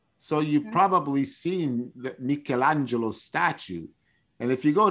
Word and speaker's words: Michelangelo: as you said that it's not arabic it's not mikaela kifik it's not mikhail it's michelangelo have you ever heard have